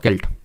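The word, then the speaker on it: Celt: Question number 12, a sailed is, sailed क्या है Neolithic period में, नवपाषाण काल में, व्हाट इज अ सेल्ट और केल्ट। तो एक्चुअल में सेल्ट इसको प्रोनाउंस करेंगे तो ये एक तरह का क्या होगा, टोम होगा, हाउस होगा, टूल होगा, फिर अर्न होगा।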